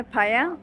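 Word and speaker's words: paella: पाया बोलते हैं ना, लिखा हुआ पायला होता है ना, लेकिन फाया लिखा जाता है पायला, लेकिन प्रोनाउंस किया जाता है फाया। डबल एल को ये प्रोनाउंस करते हैं, डबल एल को वो ये प्रोनाउंस करता है।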